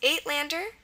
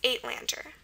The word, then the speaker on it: Uitlander: So first of all, remember we said the long A sound is spelled several ways, actually. Remember, in Dutch, it's going to be spelled E or Y most of the time, but if it has gone through Afrikaans, there were 4 different ways to spell it. There was EY, A, EI, and UI, and this is an example where UI is used for that sound. Okay, so that's why we have the A. The T is normal.